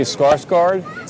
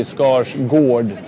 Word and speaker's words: Skarsgård: In English or Swedish? So I live in the States, and they say Skarsgård. Skarsgård. But in Swedish, it's actually Skarsgård.